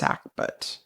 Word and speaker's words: sackbut: it's spelled s a Buu T but it's pronounced sackbut okay and the three definitions I have are